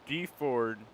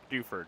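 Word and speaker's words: Dewford: No, this is the abandoned ship that we see as we are on our way from Deford. Duford? Duford, not Deford. That's a weird pronunciation.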